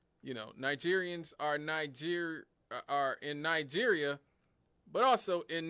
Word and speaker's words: Niger: You know, Nigerians are in Nigeria, but also in Niger. They just spell it different.